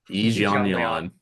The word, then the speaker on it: Yi Jianlin: Okay, how do you pronounce the name? Yi Jianlin? Yi Jianlin.